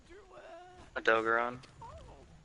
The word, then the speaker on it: Odogaron: Odogaron.